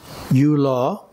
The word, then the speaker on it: Yula: The vibration energies emanating from the physical or odic body, pronounced yula, and often written simply as law.